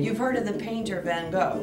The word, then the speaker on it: Van Gogh: You've heard of the painter Van Gogh, right?